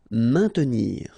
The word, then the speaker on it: maintenir: Maintenir. So remember, A, I, N together will produce the sound un. Maintenir. Don't insist on the E.